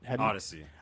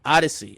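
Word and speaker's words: Oddisee: I can't pronounce the name of this group. Odyssey. Odyssey. Oh, okay. They just spell it really funky. O-D-D-I. What, is that an I in there? O-D-D-I-S-E-E. Yeah. Odyssey.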